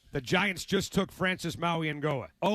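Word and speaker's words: Mauigoa: Francis Maui and Goa, that's how you say his name, Dick, out of Miami.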